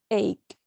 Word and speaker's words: ache: La pronunciación final es ache. Como headache.